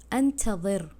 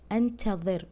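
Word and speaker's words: أنتظر: আপনারা দেখতেই পারবেন যে বাংলাতে আনতা জের লেখা, হ্যাঁ, কিন্তু আমি উচ্চারণ কিন্তু অন্যভাবে করছি, আনতাযির, আনতাযির মানে জবানটা একদম দাঁতের সাথে লেগে যাচ্ছে।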